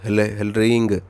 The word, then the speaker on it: ह्लीं: है वो है ह्लीं, यानी कि ह ल रींग ह्लीं, यानी कि इसमें जब आप जप करोगे तो जो रा है वो साइलेंट हो जाता है, तो सिर्फ ह्लीं का उच्चारण निकलता है मुख से।